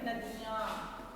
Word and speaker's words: नदियाँ: उदाहरण के नदियाँ, इसे नदियाँ नहीं कहते, नदियाँ नहीं कहते, नदियाँ। इस तरह मुंह और नासिक दोनों के द्वारा, नाक और मुंह दोनों के द्वारा उच्चारण करते हैं, इसलिए इसे चंद्रबिंदु कहते हैं।